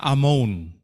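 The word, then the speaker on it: אמון: Tulisannya Amon, tapi bacanya Amon.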